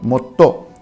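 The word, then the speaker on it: もっと: Now you can see here, motto. So a small su is there in the between. So mo, small su and to. So it becomes motto.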